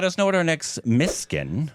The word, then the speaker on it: Mysskin: Let uh let us know what our next Mskin. I believe that is the correct pronunciation. I'm sure I've missed it multiple times. I think I've said my skin multiple times. It just sounds like my skin. It looks like it. It looks like my skin.